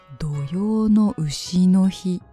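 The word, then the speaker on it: 土用の丑の日: るーほーどーこれは土用の丑の日と読みますこれはの丑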